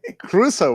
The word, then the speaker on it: Crusoe: Crusoe was the guy on the island. Enrico Caruso, he's making a dumb joke. Enrico. But anyway, No, it's not a joke. It's I'm referencing your crazy the mispronunciation. Caruso economy, Robinson Crusoe, not Enrico Caruso, for Christ's